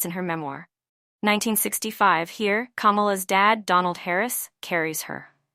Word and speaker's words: Kamala: Berkeley and not on her name comma is pronounced Kamala and it means lotus flower as she writes